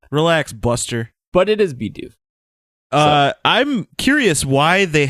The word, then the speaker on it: Bidoof: But it is Bidoof. So. I'm curious why they have never included in the Pokedex entries pronunciations.